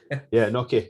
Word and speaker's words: gnocchi: Gnocchi.